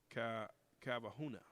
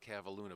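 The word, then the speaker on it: Kavalhuna: henry ford college russell cavahuna and did i pronounce that right no but that's okay no one ever does it it's russ cavalluna but i'll tell you what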